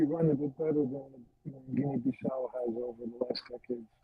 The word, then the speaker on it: Guinea-Bissau: Guinea-Bissau, is that how you pronounce it? Yeah. Guinea-Bissau.